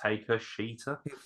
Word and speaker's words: Takashita: it's pronounced Taker Sheeta.